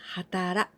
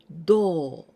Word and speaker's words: 働: So the pronunciation till hatara, hatarakimasu or hataraku. And also we can pronounce do.